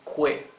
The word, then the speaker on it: que: You can see that the U is muted. You don't read this que. You read this que. So, this is que and this is quién. The U has no sound.